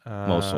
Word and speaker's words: Mosul: I'm not sure how to Yeah, pronounce that. Mosul. Mosul.